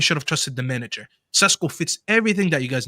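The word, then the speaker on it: Šeško: younger than him and his name rhymes with Tesco, let's just all sit there and laugh about it. There's nothing Gyökeres has done this season has been better than what Sesko did.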